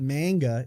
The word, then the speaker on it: manga: mean that's probably why it's not M it's not manga it's manga M it's manga yeah I liked it